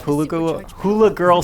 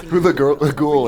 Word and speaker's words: Hulaghoul: You have your exploration, you have your puzzle solving, and you have Hula Girl Stella. That would have been funnier if I could say her name. Hula Ghoul is the Hula Ghoul.